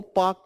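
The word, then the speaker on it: Palk: वो श्रीलंका से ओके पाक थोड़ी पी ए एल के है ना वो तो एल साइलेंट होता है उसका थोड़ी कि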